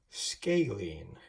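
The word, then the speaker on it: scalene: It's pronounced scaling. And so you would say that this one is a right scaling.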